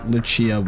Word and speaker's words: Lucia: it not bad liia Lucia I'm not going to get all the Italian pronunciations right but I I know Luchia would be how it's pronounced H I think we